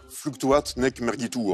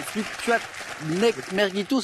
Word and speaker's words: Fluctuat nec mergitur: exprimée en latin, Marc, Fluctuat nec mergitur. a été le plus rapide? Il fallait être rapide. Bonne réponse. Il faut bien prononcer là, parce que c'est pas un fluctuat nec mergito, c'est pas facile.